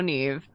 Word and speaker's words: Neve: Somebody asked about how Neve's name is spelled. It's just N-E-V. Mm-hmm. Which you would think was like Nev. But it's Neve.